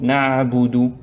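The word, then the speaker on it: نعبد: Donc na'budu, prononcez plusieurs fois na'budu, jusqu'à ce que vous sentez que la langue s'est habituée, la bouche s'est habituée à prononcer sans prononcer.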